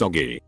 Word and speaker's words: Augie: Then when her little brother was born she asked me if she could call him Augie, pronounced Oggy.